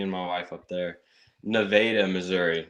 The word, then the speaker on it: Nevada: Neveda, Missouri, not Nevada. It's pronounced differently, apparently.